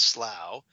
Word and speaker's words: Slough: wondering it's spelled SL Oh ugh but it's pronounced Slough and this is in 1791 where the doctor